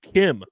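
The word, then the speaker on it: Kh'ymm: to meet his friend named Kim which is not spelled the way you would think it's spelled Harrison it's spelled KH apostrophe ymm yeah that that's some Star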